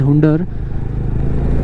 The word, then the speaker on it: Hunder: Hunder बोलते हैं कई लोग Huner बोलते हैं। तो Hyunda जो लिखा हुआ है वो बेसिकली Hyunda ही लिखा हुआ है। तो we will pronounce it Hyunda तो देख से Hyunda